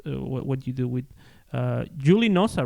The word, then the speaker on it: JULINOZA: What you do with Julie Nosa, right? Am I pronouncing it right? How this JULINOZA. Julie Nosa?